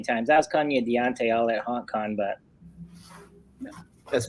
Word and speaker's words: Dante: Is it Dante? It's Dante. Dante. Like Dante's Inferno.